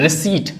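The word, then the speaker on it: receipt: रिसीट इसमें पी हमारा गायब है।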